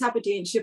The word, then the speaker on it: Aberdeenshire: I'm from BootyFit, and Zoe has kindly joined me from Aberdeenshire this evening. That's pronounced correctly, isn't it? That's correct, Aberdeenshire, but not a very Scottish accent.